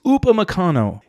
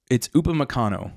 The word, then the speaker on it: Upamecano: a very insanely strong mid center-back group with Upamecano, who, by the way, it's Upamecano. It's Upamecano, not however the American broadcast team says it. Sorry, it's just, it's Upamecano.